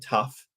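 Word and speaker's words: tuff: tough and tuite so tough is a um it's spelled TUF it's called tough and it's basically Rock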